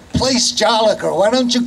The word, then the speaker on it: Place Jolicoeur: But Woonsocket is a French community, and we do speak backwards because in France we put our nouns before our adjectives. So this, you say place Jolicoeur.